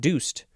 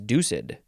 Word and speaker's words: deuced: ducid you it's uh it is two two syllables I would have thought deuced but no it is deucid we just added D